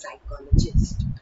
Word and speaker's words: psychologist: mind is called a psychologist. Please remember, it starts with a P, but P is silent and we pronounce it as psychologist.